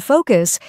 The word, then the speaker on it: focus: The vowel sound in focus is like the O in go, not like the A in father.